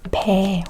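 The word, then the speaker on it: 배: We both pronounce as a pay.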